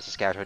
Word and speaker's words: Saskatchewan: also Saskatoon, Saskatchewan, and Regina, Saskatchewan, neither of which are actually really that big.